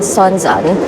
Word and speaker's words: Sounzan: Guys, I was definitely mispronouncing this station. It's called Sounzan and this is the last stop before you